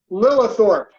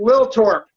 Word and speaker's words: Lillethorup: your last name okay it's pronounced lilithorpe got it yeah in Denmark they just pronounce it Lil torp okay it's impossible the